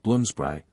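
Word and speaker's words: Bloomsbury: and Beyond the standards of bloomsberry primly pronounced bloombr respectability does not exist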